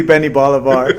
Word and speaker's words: Benni Bolivar: Yeah, it's supposed to be Benni Bolivar.